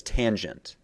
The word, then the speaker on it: tangent: And the third one, down below here, is referred to as tangent, as in a gent who has been in the sun for quite some time. Okay, so a tangent.